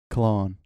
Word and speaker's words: Cologne: Just for clarity, the way that I say that place is Cologne. But the way I would say it in German is Köln. There's a difference. You drop the L, but it's very close. It's very, very close still.